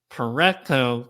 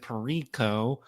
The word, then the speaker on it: Pareto: He is an entrepreneur and he's the founder of five, seven, eight figure businesses including Pareto Talent, which I said Pero at the beginning of this episode.